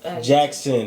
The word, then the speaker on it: Jaxxn: I think something's a little off about him because his last name is Jackson. You see how it's spelled? it's not actually spelled like that. Jaxxn. That's Jackson.